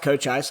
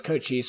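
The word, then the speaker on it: Cochise: It is pronounced Cochis. I thought it was Coochis for most of my life.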